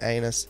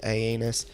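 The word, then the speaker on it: aeneus: I like to mispronounce their Latin name as Corydoras anus, but I think it's actually Aenus.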